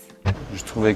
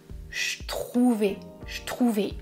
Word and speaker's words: je trouvais: Je ne prononce pas je trouvais avec le son j, je prononce je trouvais avec le son ch de chocolat.